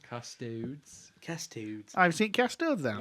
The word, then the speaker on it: Custodes: I run custod. You're just like no sounds wrong. Custodes.